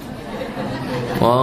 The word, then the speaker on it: eau: Eau de toilete artinya adalah o toilet bacanya eau atau o itu artinya air toilet ya toilet.